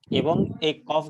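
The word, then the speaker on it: ك: হচ্ছে এই দুইটার মাঝখানে অর্থাৎ জিওভার গোড়া থেকে একটু সামনে যে অংশটা সেটা উপরের তালুর সাথে লেগে উচ্চারিত হবে কাফ এটা হবে পাতলা কাফ কাফ আর যেটার উপরে দুই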